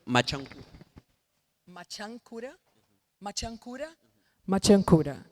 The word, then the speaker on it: Machankura: Can you pronounce the name of your company again? I want to say it correctly. Machankura.